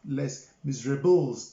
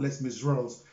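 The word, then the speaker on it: Les Misérables: with a space m-i-s-e-r-a-b-l-e-s most times in english they would like to pronounce it less miserables but it's a french word let's miss rose now it's a very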